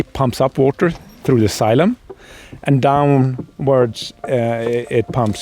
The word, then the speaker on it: xylem: cavitation which is Bubbles that forms inside the syum syum or xylm is spelled x y l e m remember that